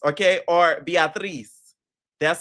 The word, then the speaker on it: Beatriz: Next, we have Beatrice, okay, or Beatriz. That's how she wants it pronounced.